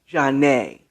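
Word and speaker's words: Zhané: more than one called janae spelled z-a-n-e and i think there's a stress over the e jarnay and it was part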